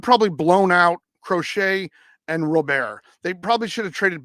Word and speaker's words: Robert: me if I'm wrong it's Rober correct you don't pronounce Robert um vaugh has 13